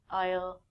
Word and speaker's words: aisle: also sound like this the s in these words are silent we don't say isel and i soul we say i'll i'll i'll this isle is a